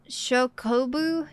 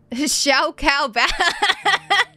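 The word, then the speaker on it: Chocobo: It should be pronounced Shokobu, not Xiao Cao Bao.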